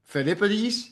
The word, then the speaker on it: Philippides: All right, I might say the name wrong, but Philippides, am I saying that right?